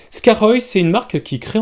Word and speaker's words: Skaarhoj: parler de la marque scar oeil alors ça s'écrit sk&a rh au logis scarole scarole moi je dis prononcé le comme vous voulez mais ce sera plus simple scar oeil c'est une marque qui